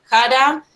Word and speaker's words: Xhara: Y después, bueno, contarles que su estudio se llama JARA, que se escribe XHARA, para si lo quieren chusmear en internet.